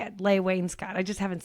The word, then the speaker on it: Leigh Wainscott: Leigh Wainscott.